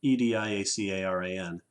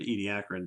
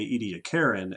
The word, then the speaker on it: Ediacaran: out there that has seen the word Ediacaran EDI ACA ra n and wonder how to pronounce it we are pronouncing it Ediacaran because I used to say edy to Karen and then an Australian man scolded me yes